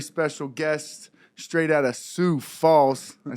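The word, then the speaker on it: Sioux Falls: with a very special guest straight out of Sue Falls I say it right you said it right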